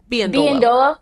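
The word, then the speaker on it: Biyendolo: Lynn, do I pronounce it Biandolo? Biandolo.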